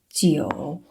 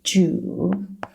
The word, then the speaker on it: 九: Some of the students would read this one like 猪. It's a bit like the pronunciation of this English word 猪, right? 猪, but it's actually 九.